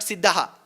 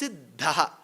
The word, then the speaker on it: siddha: It is not siddha it's siddha. That first pronunciation should be of the small da second of the half of the bigger dha.